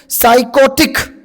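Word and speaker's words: psychotic: तो ठीक आहे ना तर सायकोटिक स्पेलिंग पी पासून सुरू आहे पण या ठिकाणी पी हा शब्द तुमचा सायलेंट आहे.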